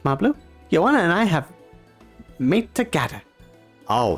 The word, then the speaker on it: mate: That's probably pronunciation. Yeah, it's mate, which is, okay, we're using Wikipedia here, but it says mate is a traditional South American caffeine-rich infused herbal drink.